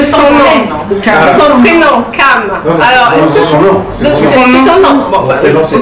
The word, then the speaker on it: Cham: L'origine de mon nom, c'est écrit C-H-A-M, donc et ça se prononce Cam, donc ça vient de l'hébreu. Oui. Cam qui veut dire noir.